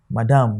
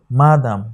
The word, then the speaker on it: madam: But in this part of the world, we often pronounce it as madam, madam. This is not the proper thing. The right thing is what? Madam, madam. That is why the stress for it is on the first what?